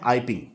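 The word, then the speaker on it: Iping: गांव का नाम है आइपिंग, ठीक है। ईपिंग या आइपिंग दोनों तरीके से प्रोनाउंस कर सकते हैं आप इसको।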